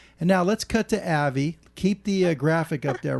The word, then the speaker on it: Avi: that Larry is that everybody mispronounces my name and I know yeah I know that Avi AI if you're a Jewish gentleman is a common name but my name is Avy and so in order